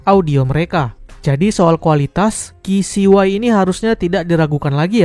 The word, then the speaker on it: KCY: Dia adalah HT05 Melobuds dari KCY atau KCY ya, bacanya dalam bahasa Inggris.